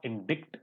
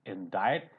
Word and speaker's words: indict: This is not indict, it is indict. See it silent.